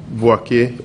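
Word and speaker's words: Boakye: Boachi, how do you spell that? B-O-A K-Y-E. Boake, okay.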